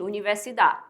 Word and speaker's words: universidad: Não dá para ler só até o da e esquecer o último D, tá, gente? Universidade. Não. Universidade. O Dzinho tem que ser pronunciado também, o último D, que é como se fosse só um toquezinho assim na língua.